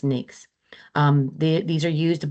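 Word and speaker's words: NAICS: codes and you'll be some people call it Nyx codes but that is the it is pronounced NAKES.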